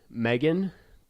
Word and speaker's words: M3GAN: the girl a an it says un Megan but I guess it's supposed to be pronounced an m3gan prototype a decision that leads